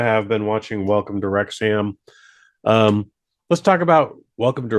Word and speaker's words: Wrexham: back in the day, if the HAM is connected to another word at the end, you have to pronounce it for some reason like there's no A. So you just have to go, So Wrexham. So it's Wrexham.